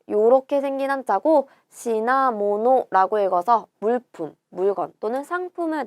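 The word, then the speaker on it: 品物: 자, 요렇게 생긴 한자고 시나모노라고 읽어서 물품, 물건 또는 상품을 나타내는 단어가 되죠. 요거를 시나라고 읽는 게 훈독이고 힝이라고 읽는 게 음독이에요.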